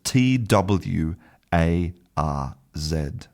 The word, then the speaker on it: twarz: And in Polish, the word for face is spelt t w a r z. And the correct pronunciation should be twarz. So, the the w letter represents a voiced sound, v v, like the